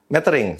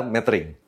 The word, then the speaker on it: metering: yang benar adalah histogram metering sering dikatakan metering atau metering yang benar adalah matering DSLR atau DSLR nah